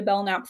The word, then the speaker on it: Belknap: So you can find me my um therapy Instagram, Bellnap Therapy. BL K nap. The K is silent.